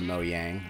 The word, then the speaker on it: Mojang: Thanks, Mojang or Mo Yang or however you feel you should pronounce it. Uh, yes, I realize that technically it's probably Mo Yang, but I don't care. I'm used to saying Moang. You know, I'm I'm I'm a dumb American.